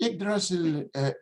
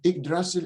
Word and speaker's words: Yggdrasil: I think Yggdrasil is really Ig or Ug, whichever pronunciation you want, modern or Old Icelandic.